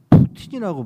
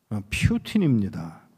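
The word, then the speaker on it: Путин: 야, 소련에 여러분들은 푸틴이라고 발음을 하더라고요. 퓨틴입니다.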